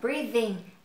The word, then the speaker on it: breathing: Các bạn để ý chỗ này, mình lè lưỡi ra nhá. Mình đọc là breathing. I'm breathing alive.